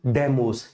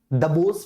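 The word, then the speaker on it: Deimos: शर्मा कह रहे हैं डिमस नहीं डेमस यार व भाई ठीक है ना देख जब आप इसकी स्पेलिंग पढ़ोगे ना ठीक है तो वहां पर प्रोनंसिएशन डेस भी होगा डेमस भी होगा दबोस भी होगा ठीक है कई सारे प्रोनंसिएशन होते हैं किताबों में अलग अलग लिखे ठीक है भाई यहां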